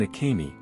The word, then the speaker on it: Acaimie: On a steamy morning in July, Clay and Acaimie, pronounced Ah-CAY-mee, Chastain arrived at the base of Mount Liamuiga on the Caribbean island of St.